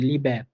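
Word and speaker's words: Liebe: এ পাইছি লিবে হ্যাঁ এখানে এই লাস্টের এটা হালকা একটু এ এর মত করে উচ্চারিত হয়েছে তাহলে আপনার একবারে নেটিভ বা শুদ্ধ ভাবে উচ্চারণ হয়েছে যে লিবে হ্যাঁ আপনি লিবে বললে এত মোটামুটি কোন ক্ষতি হচ্ছে না বাট আপনি এ বলার জন্য একটু ট্রাই করেন তাহলে আপনার কি উচ্চারণগুলা শুদ্ধভাবে সুন্দর শোনাবে আর কি যে লিভ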